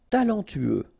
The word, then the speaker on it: talentueux: Talentueux. Final X not pronounced. Then you get this E-U together. E, then T-U, tueux.